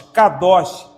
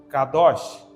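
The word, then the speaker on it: קדוש: K, D e SH, que nós pronunciaríamos com Xi. Pensa em Shein, aquela loja de compras. Isso, esse som. K, D, Xi. Com a vocalização Kadosh, Kadosh, Kadashim.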